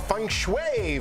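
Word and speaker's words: feng shui: the bottom of that coming up on dbl Fung Shui for your bedroom I said it right Fung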